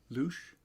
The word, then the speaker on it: louche: I'd say I'm some kind of louche.